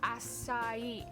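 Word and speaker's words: açaí: like smoothies all the time because there it's pronounced acai acai yeah i was gonna say i seen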